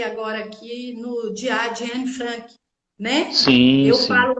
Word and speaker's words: Anne Frank: E você, como historiadora, eu pensei agora aqui no Diário de Anne Frank, né? Sim, Eu sim. falo Anne Frank porque ela nasceu na Alemanha e a pronúncia é assim, tá?